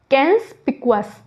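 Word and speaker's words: conspicuous: ये हो गया हमारा कैंसपिकुअस, क्या हो गया हमारा, नंबर 25 है हमारा कैंसपिकुअस, इसको कैंस पढ़ेंगे, ठीक है। क्या पढ़ेंगे, इसको प्रोनाउंसिएशन क्या हो गया इसके, कैंस होगी इसकी, कैंसपिकुअस।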